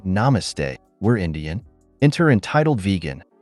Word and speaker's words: namaste: Between gasps of breath, my friend managed to say, "It's pronounced namaste."